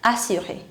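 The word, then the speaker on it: assurée: Féminin, assurer. With E, pronunciation is same.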